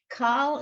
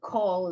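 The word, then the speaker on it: כָּל: Kal is not wrong, but call is more correct.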